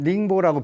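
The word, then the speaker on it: 寧波: 한자로는 영파고, 거기 발음은 닝보라고 표현하는데, 닝보의 상공회의소 회장이래요.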